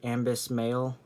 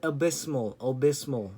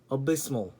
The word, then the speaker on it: abysmal: So I'm just gonna say Ambis Male, Ambis Mal. No, abysmal. That's what abysmal. That's how you pronounce it.